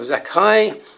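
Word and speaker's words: Zaccai: zakai numerical number h214 still pronounce zakai although spelled z-a-c-c-a-i or how he wants you you can't even spell it z-a-k if you want to um to get the zek um and the kai so it's not the spelling that counts to the pronunciation so there's those the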